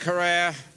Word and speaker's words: Herer: by a cop jack herer have I pronounced it correctly jack herer harrah ok Jack Hara Jackie where Jack purgatory